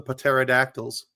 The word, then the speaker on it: pterodactyl: Cuz the P is silent.